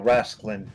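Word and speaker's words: Rasclin: just wait what how is your name actually pronounced russian wrestling okay no rascaline r-a-s-c-l-i-n so okay ross clinton so he is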